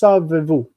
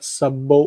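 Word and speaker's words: סָבְבוּ: But in the U form, obviously you can't say savevu, savevou. So it's just savevu, not sabou or something like that.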